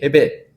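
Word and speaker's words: הֶבֶל: 헤벨. 자, 그러면 우리로 영어로 히읗 발음 나려면 뭘 써야 돼요?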